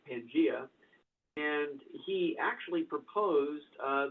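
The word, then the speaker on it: Pangaea: in one piece called pangia or pangia depending on your pronunciation but I think it's pangia and he actually proposed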